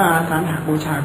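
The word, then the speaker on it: อาสาฬหบูชา: นั้น 1 วัน สวน อาสาหบูชา จะ อ่าน ว่า อาสาหบูชา ก็ ได้ นะ อ่าน ได้ ทั้ง 2 เรา จะ เข้า ใจ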